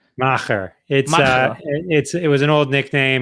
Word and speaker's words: Macher: How do you pronounce it? Macher.